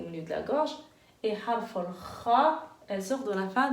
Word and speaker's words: خ: Et harf al-kha, c'est la lettre qu'on va étudier aujourd'hui.